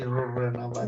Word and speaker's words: Rurrenabaque: Exactly, Rurrenabaque. That's why he was pronouncing a little bit.